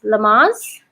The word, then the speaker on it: Lamaze: believe we have uh do you do you pronounce it as lamas yeah lamaze is the founding father of childbirth